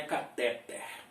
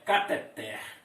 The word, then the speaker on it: cateter: para você dizendo que esta palavra não é cateter a palavra é cateter Olha a sílaba mais forte aqui na final veja bem gente que